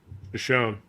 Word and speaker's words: Shoshone: I can't pronounce it, Terry. You got to help me. Shoshone.